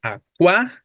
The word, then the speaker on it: acuático: Acuático, ¿no? Entonces, pensando en la sílaba tónica, pues será la antepenúltima, como ya tú lo decías, palabra esdrújula, por lo tanto se tiene que acentuar obligadamente, pero efectivamente, como tengo